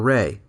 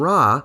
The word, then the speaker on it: Ra: who is variously called Rah or Reay why is that my understanding is that the pronunciation Reay is from Coptic which represents later Egyptian pronunciation and raah is probably the older